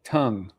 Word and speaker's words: Teng: Which by the way, I think he now is has corrected his pronunciation of his name. Did you hear this? No. Okay, so it's Kai-Wei Teng.